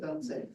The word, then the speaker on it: Artsakh: Artsakh, actually, it's pronounced Artsakh.